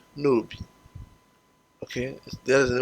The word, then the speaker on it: Nob: It's, even though in English it's spelled nob, N-O-B, it's actually pronounced nobi.